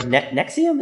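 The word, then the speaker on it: NXIVM: Keith Rainier creator of Nexium as I said nexium yeah even though it doesn't look like that's how it's pronounced that's how they pronounce it I know it's spelled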